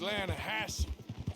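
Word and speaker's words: Lannahechee: The Lanahatchee. It runs right near here. Yeah, but it's pronounced Lanahassee. Why is everything in English said differently than it's written?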